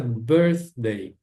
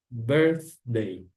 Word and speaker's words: birthday: Não se esqueçam de jeito nenhum de colocar a língua entre os dentes no som do th aqui, né? Muita gente diz birthday, não é birthday, a pronúncia é birthday. A língua entre os dentes soprando como se fosse uma vela de aniversário. Birthday.